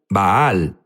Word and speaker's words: Baal: Jesús habló sobre bal unos dicen bal baal es la pronunciación correcta correcto pero sabes qué